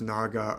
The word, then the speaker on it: Naga: the word is spelled Naga or n it's pronounced Naga or nag very interesting Nagal and nag are